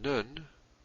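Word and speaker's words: נון: And Nun, or some people may say Nun, Nun is the N sound, as in the English word now.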